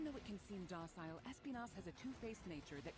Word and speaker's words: Espinas: Espinas. That's how you pronounce it.